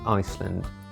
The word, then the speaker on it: Iceland: a problem letter i iceland by definition is meant to be the land of eyes ironically there's precious little ice in Iceland still Iceland is a